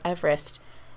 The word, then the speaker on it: Everest: impressive fun fact about everest everyone actually pronounces the name wrong how is the true pronoun pronunciation eve rest because it's named after a person whose last name was eve rest like together i see